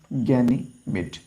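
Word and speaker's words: Ganymede: गनी मिट ठीक है गनी मिट या फिर नाम बोलते हैं गैनी मिड बोलते हैं जैसे भी आप इसे प्रोनाउंस कर सके स्पेलिंग याद रख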